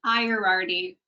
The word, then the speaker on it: Iardi: Callie, do you want to correct my pronunciation? It's Iardi. Iardi.